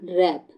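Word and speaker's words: wrap: बच्चों चलिए next question रैप इसे क्या पढ़ेंगे हम रैप क्या पढ़ेंगे रैप रैप नहीं पढ़ेंगे तो यहां जो जो डब्लू है वो क्या है हमारा साइलेंट वर्ड है तो सी हमारा क्या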